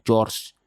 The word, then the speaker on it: Georgia: di negara bagian George tulisannya Georgia bacanya George semua penduduk desa itu